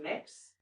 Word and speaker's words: Mx: Um, the gender neutral one is pronounced mix. It's just MX period.